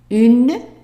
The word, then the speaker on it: une: And then to say a night, you say une. Remember, this E is silent.